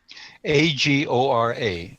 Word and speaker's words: Agora: Well, when Fred was mentioning, I wasn't sure what agro was, but it's agra. AGORA, agora. Agora. Some people okay. say, but it's not. It's agora.